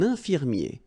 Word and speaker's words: infirmier: Un infirmier. I-E-R at the end. Ye.